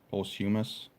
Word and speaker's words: posthumous: that'll be a pulse he meant humorous that's not how you say it posthumous release hopefully I'm seeing